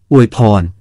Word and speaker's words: อวยพร: เราใช้คำว่า โอยทาน, โอยพร มานานแล้ว หลายคนเข้าใจว่า คำนี้ ไทยยืมมาจากเขมร แต่ที่จริงคำนี้ เป็นคำขอม ที่พูดกันมากว่า 4,000 ปี ปัจจุบันเราก็ยังใช้คำนี้อยู่ แต่ออกเสียงเป็น อวยพร เราจะพูดว่า อวยพร หรือ ให้พร